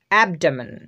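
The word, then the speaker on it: abdomen: ডি ও ডা এম ই এন মেন main অ্যাবডোমেন অ্যাবডোমেন এবডোমেন এটার অর্থ হচ্ছে পেট তো একটা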